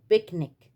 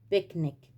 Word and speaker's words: picnic: وبرضو لو حرف السي اجا في نهاية الكلمة، في آخر الكلمة، بننطق حرف السي كاف أو كا، زي traffic، traffic، أو picnic، picnic. حرف السي جاي في آخر الكلمة هنا وهنا، اتنطقت كا. traffic، picnic، traffic، picnic.